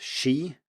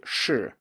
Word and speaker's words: shi: students pronouncing SHI as she, which sounds a bit like she in English, whereas it's supposed to be shi, which is not really close to she, it's just that it's spelt with an I and then people think it's pronounced like that.